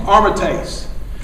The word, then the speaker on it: aromatase: Molinari, I was pronouncing this wrong, aromatase.